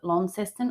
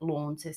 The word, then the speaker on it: Launceston: who lives in Tasmania the locals call it leston or lonni for short and they get really annoyed when people call it lawn Sy even though it's spelled like that it doesn't matter there's